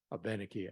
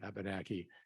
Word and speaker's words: Abenaki: our ability language or Abenaki either pronunciation is okay by the way Abenaki Abenaki in fact uh I